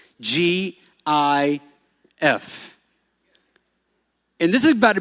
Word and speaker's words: GIF: The correct way to say it is GIF, just like the peanut butter.